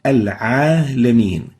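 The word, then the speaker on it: العالمين: It's a common mistake for the newcomers to the Arabic language or non-native Arabic speakers to replace the ayn with a. So this is the ayn, and they mispronounce the letter ayn and replace it with the letter a. So instead of saying al-alameen, they would say al-alameen. The right way of pronouncing it is al-alameen.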